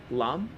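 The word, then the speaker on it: Laam: my name is miss lam how do you spell that that was ms dot l-a-a-m literally introduced himself as miss lom thank you so we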